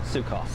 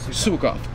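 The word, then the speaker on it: Suecof: How do you pronounce his name? Sukov. Sukov.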